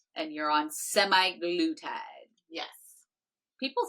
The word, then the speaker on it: semaglutide: It's semaglutide. Semaglutide. Yeah. That's why I want to say semi-glutide.